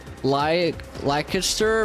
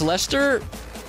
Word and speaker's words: Leicester: I'm around Leicester, Birmingham, London, Coventry.